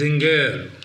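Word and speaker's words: Singer: That person corrected my pronunciation. It is Zinger.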